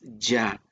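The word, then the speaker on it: יה: a jehová entiendo que en el hebreo la pronunciación es ya y está ya viene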